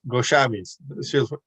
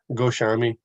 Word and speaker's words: Goswami: Yeah, six Goswamis. Goswami, because in Bengal mostly SH. Almost all S's are like SH. Goswami.